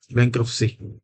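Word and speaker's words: bankruptcy: बैंक्रप्सी में जो टी है ये साइलेंट है, बैंक्रप्सी।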